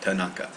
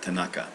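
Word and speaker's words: 田中: the way so Kata and then naka Naka Tanaka all right so let's see uh by the way that's the kunyomi pronunciations you'll get used to that all right Tanaka Tanaka that's it now here it means she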